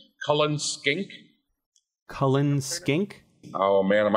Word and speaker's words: Cullen skink: and you are believe saying it correctly as it's written it looks like Cullen skink yeah and of course